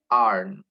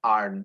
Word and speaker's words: aren't: Misalnya they are hungry, tentu negatifnya menjadi they aren't. Kalau di are not hungry atau kalau kita singkat pakai contraction itu kita mengucapkannya aren't. Jadi disambung ya, aren't langsung begitu. Seperti aren't tapi diucapkan lebih cepat ya, aren't.